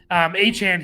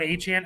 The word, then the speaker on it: Achane: Achane here.